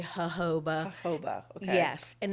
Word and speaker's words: jojoba: Some people pronounce it jojoba, but it's actually jojoba.